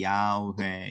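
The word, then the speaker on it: Yahweh: 자음이 없고 그래서 이걸 어떻게 발음하냐라고 해서 여기에다가 그 주님이라고 하는 단어가 아도나이인데 아도나이 여기가 다 모음이 있잖아요. 아도 모음이고 노에도 오음이 있고 그걸 붙인 거예요. 여기다가이 단어에다 yhw에다가 그래서 여호와가 돼요. 제호바 이렇게 부르는데 이걸 학자들이 만들어 냈어요. 이렇게 발음했을 거야. 이해되시죠? 그리고 지금은 그냥 이거를 그대로 그냥 부르는게 더 맞지. 왜냐면 모음을 의도적으로 인위적으로 넣지 말고 그냥 그대로 부르자. 이래서 야회 이렇게 부르는 거예요.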